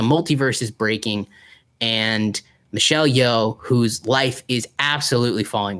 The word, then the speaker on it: Yeoh: It is the new Michelle Yeoh movie.